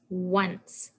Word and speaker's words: once: followed by or if there's c and then e the c says so that word is once so it's kind of